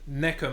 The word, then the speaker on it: neko: Well, neko means cat in Japanese. I've been saying Nico. Neko, because those are the sounds that I've been saying it wrong.